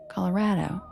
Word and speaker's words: Colorado: And I was a news reporter there, so I had to say Rado. Colorado. Like rad, dude.